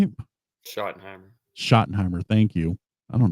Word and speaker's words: Schottenheimer: Schottenheimer.